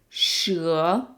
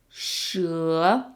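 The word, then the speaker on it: 蛇: don't do it it's the E is pronounced like uh and the measure word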